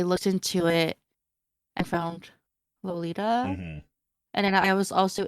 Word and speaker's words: Lolita: I actually refrain from saying the word Lolita, and I use Rolita, like the Japanese pronunciation.